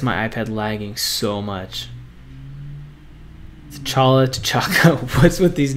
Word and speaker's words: T'Chaka: T'Chaka. Oh man, lag. Legacy, stop doing that to me. King T'Chaka is his dad, I believe, is his name.